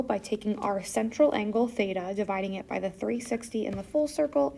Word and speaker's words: theta: So this symbol theta and that is pronounced t h e t a theta.